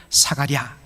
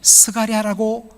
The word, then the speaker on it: 스가랴: 사가랴. 사실은 스가랴라고 그렇게 발음하는 것이 더 정확합니다.